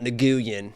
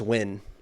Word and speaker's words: Nguyen: Yeah, it's not Nguyen. It's just win.